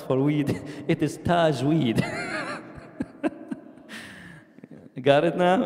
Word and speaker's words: Tajweed: Tajweed. In another way, the way that the American pronounce it, Tajweed.